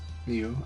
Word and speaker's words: Liu: Depends on which dialect you're talking about, but I would pronounce it once again in Mandarin. It's like Liu. Liu.